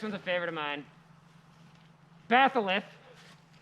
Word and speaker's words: batholith: Batholith. How do you spell that?